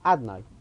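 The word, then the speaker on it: Adonai: We know that the shame of Hashem, the way we say it, whenever we see Yud Kei Vav Kei, we pronounce it Adnai.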